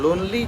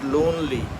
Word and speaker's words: lonely: जाता है, बाग, उसको लॉन बोलते हैं. ठीक है. लोन जो उधार वाला लोन होता है ना, that is what it is closer to. ठीक है. तो लोनली जो है, इट हैज़ टू be pronounced as लोनली. मतलब लोन, आपने लोन ली. ठीक है. आपने किसी से लोन ली. ठीक है. लॉनली नहीं होगा.